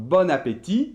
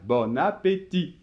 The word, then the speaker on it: bon appétit: le typique clichés donc bon appétit sans prononcer le thé finale bon appétit mais il me semble